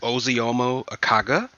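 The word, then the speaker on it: Ozioma Akagha: Apparently, her name is pronounced Oziomo Akaga.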